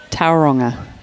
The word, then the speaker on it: Tauranga: Enjoying from Tauranga in New Zealand. Afternoon, Robert. Hopefully the weather's over there, Robert. It'd be a bit cool, I'd say, Tauranga. Shane, let's go up the hill. Tauranga? Sorry. Tauranga.